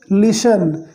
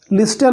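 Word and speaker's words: listen: Carefully यानी ध्यानपूर्वक सुनो, लिशन, इसे क्या पढ़ेंगे, लिशन, लिस्टन नहीं, लिस्टन पढ़ना गलत है, लिशन, बिकॉज टी यहाँ पर साइलेंट है, राइट।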